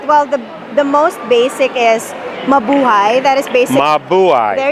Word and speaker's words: mabuhay: Well, the most basic is mabuhay. That is basic. Mabuhay. There you go. That's basically how you say aloha, hello, welcome. So you say mabuhay.